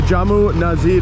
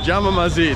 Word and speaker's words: Jama Masjid: beautiful places in India here, and that's the Jamu Nazid right there. Jama Masjid.